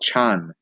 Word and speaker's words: Chan: the 6th century and Zen is actually the Japanese pronunciation of what in Chinese would be more like Chan so Chan Buddhism Zen